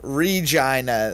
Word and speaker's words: Regina: city is Saskatchewan um everybody always makes the city that rhymes with fun joke and I always wonder like it doesn't rhyme with fun it rhymes with vagina say the city that